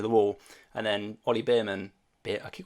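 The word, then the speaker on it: Bearman: wall and then OE bman I keep call him Beerman I don't know why I keep call him Beerman he's not a Beerman it's B man um only bman bman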